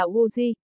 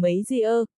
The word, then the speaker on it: U Di: Vô Kê, tên của hòa thượng là U Di, phát âm là U Di, dịch là Vô Cơ, Tây Môn Long Ngâm cố ý đọc thành mấy di ơ, mê di ơ, nghĩa là Vô Kê không có gà móng đỏ ý chỉ gái lầu xanh.